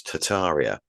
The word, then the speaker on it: Tartaria: slightly different but um most people say that you're not supposed to pronounce the first R are you it's tataria but oh is it I'm so used to calling it tartaria it works me yeah